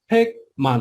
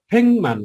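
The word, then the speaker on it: 백만: यो ल त्यसपछि फेक मान हो है। यो फेक मान हो। तर यसलाई चाहिँ फेङ मान गर्नुपर्छ।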